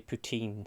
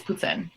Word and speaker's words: poutine: I always say poutine, so maybe. Okay, well, it's poutine. You're wrong. So learn how to say it, please.